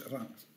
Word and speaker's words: Reims: Ça s'appelle Reims, mais c'est une... Voilà. On prononce Reims.